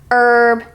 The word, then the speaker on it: herb: ounce this letter but it's the letter H at the beginning of some words as an hour herb and honest h o Ur we don't pronounce it how we pronounce our